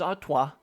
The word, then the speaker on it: Artois: of your comments and I know I've been pronouncing things horribly wrong especially the O is was very bad so now let me say this this is Artois this is vermin WA